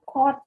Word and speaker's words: caught: Catch, caught, caught. Bukan cock, oke? Caught. Ini caught.